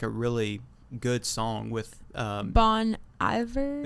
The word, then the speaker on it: Bon Iver: But that's actually like a really good song with Bon Iver? Yeah, Bon Iver. I think that's how. Yes, that's how you say it.